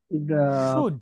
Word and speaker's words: should: Hira and Sumu should শুড, cook. শুড। Should cook. না শুনুন, এই Should উচ্চারণটা আপনারা cook.